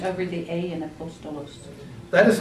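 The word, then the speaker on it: ἀπόστολος: So look at the first word up here, apostolos. You don't say apostolos. You don't say apostolos. You don't say apostolos. You say apostolos. The emphasis is on the second syllable.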